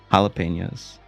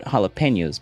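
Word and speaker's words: jalapeño: It's in English, and they put jalapenos, but we pronounce the J as an H in English when you're not supposed to do that. You're supposed to do that only in Spanish.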